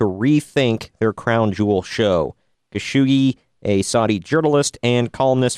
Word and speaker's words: Khashoggi: Jamal, I'm going to butcher his name here, Khashoggi, I believe is how you say it.